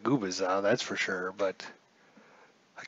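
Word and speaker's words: Gubicza: So the lineups today, or the pitching today actually, for the Kansas City Royals, Mark Gubaza. And I think I'm pronouncing that right now.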